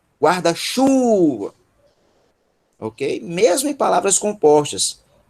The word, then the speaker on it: guarda-chuva: A sílaba tônica de guarda-chuva é chu, guarda-chuva, ok?